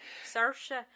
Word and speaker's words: Saoirse: Saoirse. Yeah, she's We phenomenal. actually had to watch a couple different clips just to figure out how to say her name. That's right. Saoirse.